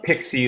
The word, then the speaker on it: PXE: I always think of Pixie like Pixie booting up on an old server, PXE.